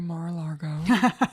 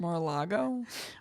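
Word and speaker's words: Mar-a-Lago: region no mine would have gone directly to marago or however the it's pronounced maral Lago Mar Mar it's like rural jurer a 30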